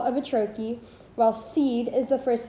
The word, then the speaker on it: trochee: is the thing it designates, a pair of syllables in which the first is stressed, dum-da, or in this case, tro-key, or I am.